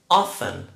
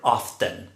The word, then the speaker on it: often: 70%, often or often. There are two pronunciations. You can say often or often. It's your choice.